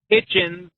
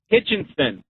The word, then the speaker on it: Hitchens: It's Alex Hitchens, not Hitchinson.